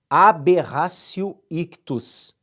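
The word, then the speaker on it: aberratio ictus: outra erro na execução a berrar cio iquitos você escreve aberratio com o t e pronuncia aberração a berrar cio iquitos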